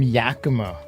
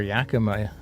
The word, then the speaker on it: Yakima: We're gonna lose all of our Yakima listeners. Yeah, true. So, she builds. I didn't mean to pronounce it Yakima. Oh, Mike, it's not Yakima. It's Yakima. Oh no!